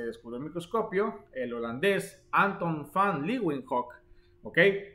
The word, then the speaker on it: Anton van Leeuwenhoek: el microscopio, el holandés Anton van Leeuwenhoek, ¿ok? O Leeuwenhoek, algo así se escribe, así como. Pero Leeuwenhoek, Anton van, ¿ok? La V se pronuncia como F en el holandés, en el alemán, cosa gramatical de ellos.